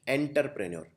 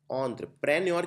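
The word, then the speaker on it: entrepreneur: एंटरप्रेन्योर लिखने के लिए ऑन्ट्र, इसको आप, एक कॉमन मिस्टेक ये है एंटरप्रेन्योर, कई लोग लिखते हैं एंटरप्रेन्योर, नहीं ये एंटर नहीं है, इसको बोलते हैं ऑन्ट्र। ऑन्ट्र प्रेन्योर की स्पेलिंग रिलेटिवली आसान रहेगी, लेकिन ऑन्ट्र में आपको ENTRE लिखना है।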